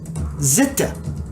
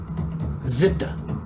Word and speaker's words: Zita: Zeta says it's pronounced Zita. Zita.